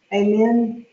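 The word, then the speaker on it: ἀμήν: Amen? That's what it means. Is Amen. how would you say it? Amen. How do you pronounce an Ada? A long A, pray. So amen.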